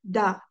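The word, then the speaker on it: 大: This character is said as da in Chinese.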